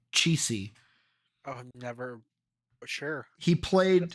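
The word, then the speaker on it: Cichy: um Jack what's his how do you say last name cheesy c-i-c-h-y cheesy oh never sure he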